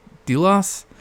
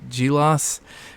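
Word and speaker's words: Djilas: do you pronounce that delos um yeah I think it's like the J is silent right yeah like a j I think g-loss concise history of the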